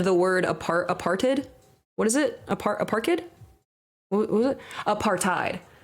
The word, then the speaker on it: apartheid: I don't want to be annoying, but it's pronounced apartheid.